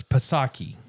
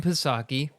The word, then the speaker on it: Psaki: There's no silent letter, so it's Psaki. Okay. Jen Psaki, which I've heard it pronounced that way many times.